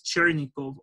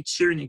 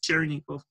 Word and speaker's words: Chernikov: pronouncing his name properly the name is chernikov and sometimes they say cheering but it's chernikov so in the game chernikov